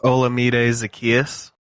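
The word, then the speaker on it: Olamide Zaccheaus: to say this guy's name i think it's olamide zacchaeus that sounds right for the falcons 19.3 fantasy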